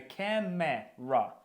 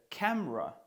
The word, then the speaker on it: camera: помилочки, тому що насправді camera читається не camра, а ось так.